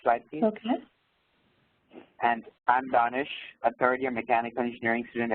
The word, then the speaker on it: Danish: Danish, how do you say your name? I It's Danish. It's a Persian word.